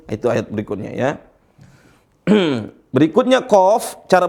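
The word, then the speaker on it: ق: Berikutnya qaf. Cara bacanya ini gimana? Ini cara bacanya. Qaf.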